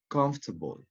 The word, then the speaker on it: comfortable: them okay you have for instance a word comfortable comfortable which letter do you think it's not pronounced excellent letter all said comfortable comfortable next